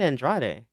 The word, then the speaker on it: Andrade: Just like people who say Andrade are just wrong. It's Andrad. Get it right. Yeah. Who's out there saying Andrade?